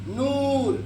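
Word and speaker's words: نور: जैसे कि बोलिए नूर, दूर, जिसको खींच के पढ़ते हैं, हाँ, अल्लाह के नूर, है ना, ठीक है।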